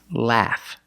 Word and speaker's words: laugh: The GH makes the F sound. Laugh.